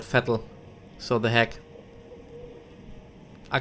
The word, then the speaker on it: Vettel: In German it's actually called Vettel.